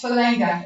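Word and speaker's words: Fulaga: Yep, it's Falanga. It's a bit like Nandi. You know, they pronounce the N.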